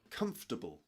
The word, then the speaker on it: comfortable: How do you pronounce this word? Comfortable.